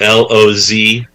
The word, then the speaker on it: Lozier: be going to the website of the Charlotte Lozier Institute and downloading some of the really high quality academic papers that are located there.